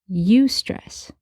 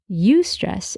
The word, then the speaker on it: eustress: There's stress as we know it, and then there's also eustress. It's spelled E-U-S-T-R-E-S-S, eustress.